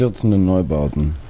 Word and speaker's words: Einstürzende Neubauten: You want to pronounce it? Einstürzende Neubauten.